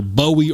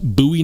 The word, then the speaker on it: Bowie: all about pronunciation and technically it could be pronounced either Bowie or buoy but given the fact that the knife is made after the famous Jim buoy it makes sense that it should be pronounced buoy knife instead of Bowie knife we've already been